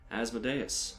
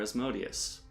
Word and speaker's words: Asmodeus: say the name again people have their own opinions on how it is pronounced I like as the dais because I watched the red wall cartoon and that's what the snake called himself and he was evil